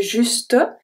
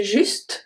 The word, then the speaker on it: juste: I don't say juste. I say juste, so the E is silent.